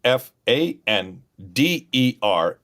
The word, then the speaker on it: Pfander: P Fan Der F I L M S. So Fander named after Dr. Carl Fander, starting with the P. It's a German spelling.